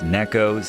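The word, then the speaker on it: Neko: Strictly speaking, it's Neos as in Neco, Japanese for cat. Appreciate uh those of you for sending me straight on that pronunciation, but it'll always be Nico to me, so I apologize in advance.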